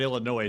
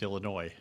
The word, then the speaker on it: Illinois: That's like Illinois. It's not Illinois. So there's only one. It's Illinois. Yeah. Yeah. What? And that's where she's There's from. no S at the end of it. Yeah, there is. It is an S, but it's not pronounced.